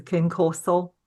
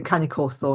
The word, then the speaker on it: Cane Corso: took the mick out of me for not pronouncing it correctly, which was a Cane Corso. You say Cane Corso and I say Cane Corso.